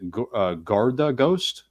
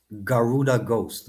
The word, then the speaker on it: Garuda Ghost: Is it Garda Ghost? Garuda Ghost.